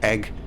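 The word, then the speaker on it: æg: lot of danish words egg is danish oh it's pronounced exactly the same and spelt a e oh okay you see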